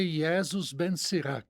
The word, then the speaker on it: Jesus Ben Sirac: Normalmente é Iesus Ben Sirac, né? Iesus, é.